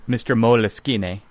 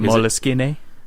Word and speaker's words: Moleskine: Moleskine.